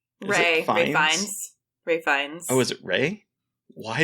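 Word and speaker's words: Ralph Fiennes: Ray Fiennes. Oh, is it Ray? Why did I say Ralph? I think it's Ray Fiennes. It's like, so it's weird. It's like, you don't pronounce it like Ralph.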